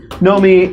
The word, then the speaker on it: Naomi: hope so James yeah know me and it's pronounced know me right it is pronounced know me like the sort of like early eighties avant-garde New Wave opera singer Klaus Nomi yes okay just wanted